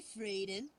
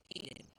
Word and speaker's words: Hayden: Hey, Frayden. It's Hayden. We love do you? You keep saying it wrong.